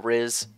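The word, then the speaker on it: Rhys: an archer so he probably wouldn't kill uh Riz. Oh yeah, by the way, it's pronounced RZ, not Rise.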